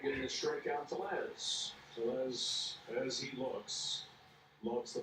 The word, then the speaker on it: Tellez: Tellez, as he looks, loves the fastball. Off speed, not so much. Se pronuncia Telles, güey.